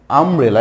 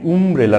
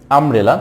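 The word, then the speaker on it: umbrella: উচ্চারিত হয়, যেমন এখানে আমব্রেলা, এটাকে উমব্রেলা না আমরা বলি আমব্রেলা। তো এখানে এই ইউ এর উচ্চারণ না হয়ে অন্য যে ভাওয়েল রয়েছে এ এর উচ্চারণটা হচ্ছে আমব্রেলা, দ্যাটস এখানে অ্যান বসছে।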